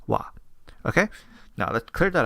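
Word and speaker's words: は: No, just like how wa is supposed to be ha, but as a particle you pronounce it as wa.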